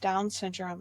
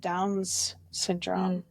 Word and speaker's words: Down syndrome: that I used was I mispronounced Down syndrome and said Downs syndrome.